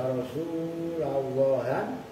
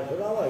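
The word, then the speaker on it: رسولَ الله: bagusah itu kanungi apa Ya Rasulallah ya nabiamik ya Rasul Allah Kanah bacanya bukan Ya Rasulullah Ya Rasulullah Ya salah gitu loh cuman saya tegesin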